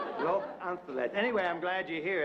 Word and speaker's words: Los Angeles: Some people call it Los Angeles, and some people call it Los Angeles. I personally prefer the pure Castilian Spanish pronunciation. Los Angeles. Los Angeles.